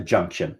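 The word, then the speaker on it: Junktion: if you walk into we call it the junction spelled with a k junction you know like the word junk the junction is this beautiful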